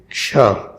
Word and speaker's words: क्ष: And after that there is Ksha. How we pronounce this?